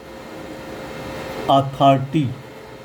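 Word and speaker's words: authority: था के आगे भी ओ का उच्चारण आ होगा। ये वाला अथॉरिटी तो आर को आई से छोटी इ की मात्रा लगा दी।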